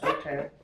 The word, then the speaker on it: Dothan: It's pronounced Dothan by the Jewish people today.